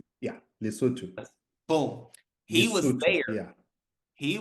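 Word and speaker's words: Lesotho: loto lutu am I saying it right yeah lutu boom he was there he was there and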